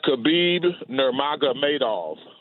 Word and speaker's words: Khabib Nurmagomedov: here I'm having a hard time person it's khabib nurmagomedov that's what I said to you that's nice